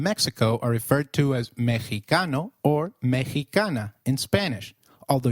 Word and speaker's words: mexicano: Did you notice that the X in Mexicano is pronounced as H?